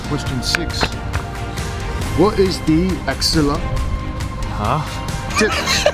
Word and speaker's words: axilla: What is the axilla? Huh? Spell it. Spell it. Why don't you spell it? A-X-I-double-L-A. A-X-I-double-L-A. Oh, yes. Can I say that right? Axilla. Yep. Axilla.